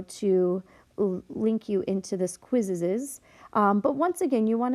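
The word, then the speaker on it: Quizizz: You're going to get the questions from your quizzes. That's how they say it. It has Q-U-I-Z-I-Z-Z.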